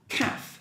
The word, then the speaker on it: calf: What I want to tell you is half, the pronunciation is half, and this one is calf. So next time when you see a word, it looks like the same, you just change one or two letters, maybe you can guess the pronunciation in this way.